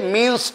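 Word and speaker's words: mesne: দুই 12 তে আছে মিনস প্রফিট মিসনে মিস নি প্রফিট কিন্তু উচ্চারণ হবে মিনস বানানো হবে মিস নি এম ই এস এন E miss নি মিস নি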